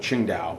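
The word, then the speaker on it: Tsingtao: that is that W silent just like with Ching da it begins with the letter t but Ching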